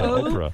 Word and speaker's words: Oprah: Omarosa, Oprah. Oprah. Yeah, right. It's a hard O, same as you.